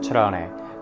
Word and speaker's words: Cerrone: My last name, I pronounce it Cerrone, but technically it's pronounced Cerrone.